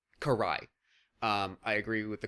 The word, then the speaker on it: Karai: why can I not correctly understand how to pronounce her name I I always just want to call her Cara but I know it's not right it's Karai Karai um I agree with the comment that whatever